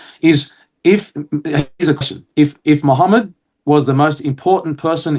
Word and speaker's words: Muhammad: And we know it's pronounced Muhammad because he writes in Syriac MW. Mu. Okay? So not Mahmad, Muhammad.